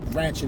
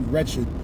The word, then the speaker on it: wretched: It's not ratchet, it's actually wretched. People started saying ratchet because they have an inability to pronounce the term wretched.